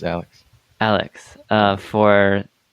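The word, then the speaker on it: Alyx: alex or something oh yeah how do you pronounce that it's alex alex uh for like vr and i'm hearing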